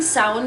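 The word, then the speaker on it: Samhain: the Celts believed that sound was a time with the dead could walk among the living now I keep saying sound because that's what the pronunciation guides implied but it is not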